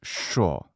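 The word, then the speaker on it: що: hear remember that the conjunction that in ukrainian is sho but in russian it's unstressed this brave young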